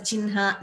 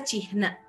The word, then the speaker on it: चिह्न: We do not pronounce it the way we write, but these are only a few exceptions, like I told you.